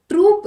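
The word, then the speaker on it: troupe: Troop is used for a group of soldiers, whereas this troop, OUPE pronunciation, is used for entertainers, dancers, artists, singers, right? All of them. So here we are talking about singers, right? Probably BTS is coming. So we'll use troop, OUPE. Gang, bank, no.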